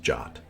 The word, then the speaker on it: JWT: encoded Json web token abbreviated JWT and pronounced jot it worked it actually